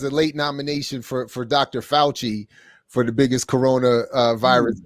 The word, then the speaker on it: Fauci: Let me teach you how to pronounce Italian. Hold on. Yeah. It's okay. It's okay. This is the Fauci. The Fauci.